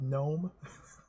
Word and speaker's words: gnome: just a running joke all of the n's have a silent G in front of them like the word gnome acly G North G